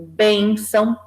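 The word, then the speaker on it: bênção: a tua no porque a sílaba forte não é que a gente tem ao sol nasal mas sim a sílaba anterior que é bem então você que Tá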